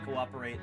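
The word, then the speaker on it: coöperate: The diasis reminds the reader that the word has four syllables. cooperate, not three, recuperate.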